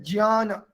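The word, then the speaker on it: ज्ञान: So someone who is saying gyan, someone who is saying gyan, so you will be able to understand why we are pronouncing in such way jnana, because that is ja and ya.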